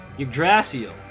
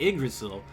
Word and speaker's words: Yggdrasil: There's like there's different ways to pronounce it, and I'm pretty sure everybody knows what you're trying to say if you pronounce it one way or the other. One region will pronounce it differently.